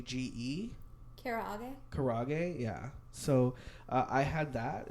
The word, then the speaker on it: karaage: how to pronounce this and you probably do it's spelled ka ra g GE kara karaage yeah so I had that it was pretty